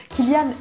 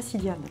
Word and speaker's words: Cillian: Killian, et non pas Cillian, s'il vous plaît, arrêtez de dire Cillian, il s'appelle pas comme ça.